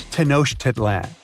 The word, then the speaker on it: Tenochtitlan: It's Tenochtitlan. And Mayan cities are hard to pronounce, too.